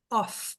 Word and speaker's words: off: Off é uma palavra que é forte. E ela pode ser sílaba tônica. E ela tem som de F. Off. Turn on, turn off. Ela vai ser tônica nas frases.